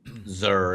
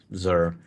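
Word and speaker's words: Xûr: His name is Zur. At least that's how I always pronounce it. It's XUR. That's how it's spelled, Zur.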